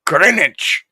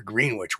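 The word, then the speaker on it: Greenwich: here in good old green Wich New York and uh talk to an English friend of mine saying why the hell don't you call it greenich now that's Conneticut we're green Wich we're New York we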